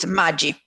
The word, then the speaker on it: Maggi: Well, in Italian, pronounce it Maggi.